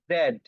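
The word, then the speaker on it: Z: ওকে, এবার লক্ষ্য করুন শেষ অক্ষরটা, এটার উচ্চারণ বা প্রনাউন্সিয়েশন দু রকম হয়, ব্রিটিশ অ্যাকসেন্ট হয় এবং আমেরিকান অ্যাকসেন্ট হয়। সো আমরা দুটি উচ্চারণ করব। লক্ষ্য করুন, এটা ব্রিটিশ অ্যাকসেন্ট বা উচ্চারণ হয় জেড, জেড, জেড, এবং আমেরিকান অ্যাকসেন্ট হয় জি, জি, জি, ঠিক আছে?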